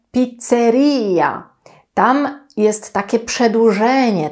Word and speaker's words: pizzeria: pizzerii nie lubię naprawdę nie cierpię kiedy ludzie mówią pizzernia nie wiem skąd to się wzięło nie chcę wiedzieć Pamiętajcie że kiedy będziecie we Włoszech mówicie pizzerii Ja tam jest się